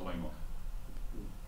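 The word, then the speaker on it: Alaimo: Just with your quarterback, I believe it's pronounced Alemo, is that right? Yes, Alemo.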